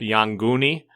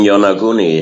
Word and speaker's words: Yonaguni: contact with brought up Yonguni off of Okinawa? The Yonguni, the underwater pyramids, etc.? You mean Yonaguni? Yeah, I pronounce it different, yeah.